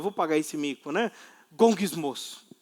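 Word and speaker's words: γογγυσμός: A própria palavra grega, o som, a pronúncia da palavra grega para murmuração é um gesto que balbucia a forma de resmungar.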